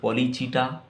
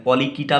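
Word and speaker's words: Polychaeta: ये पहला जो क्लास है पॉलीचीटा, ओलिगोचीटा। चीटा भी बोल सकते, कीटा भी बोल सकते, पॉलीकीटा भी बोलते कोई लोग।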